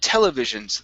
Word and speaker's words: television: next is the word televisions the stress at the very beginning instead of Television it's television television all right television there